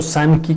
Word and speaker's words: Sanki: Sanki se escribe S-A-N de niño, K de kilo, I de Ignacio. Sanki, que es el nombre de la empresa, que